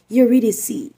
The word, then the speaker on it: Eurydice: kanyang asawa na si idic and Yes it's pronounced idic si orpheus ay anak nina cope na Akala